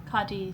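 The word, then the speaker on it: Cádiz: Um, so we're going to go to bed and we will wake up tomorrow in Kadis. Is that how you say it? Cadis.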